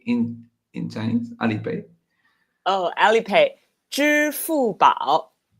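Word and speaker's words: 支付宝: Oh, Alipay, 支付宝.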